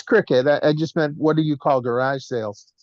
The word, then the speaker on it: Cricut: I think it's cricket or circuit, or am I pronouncing it wrong? I think it's the same thing. It's Cricut.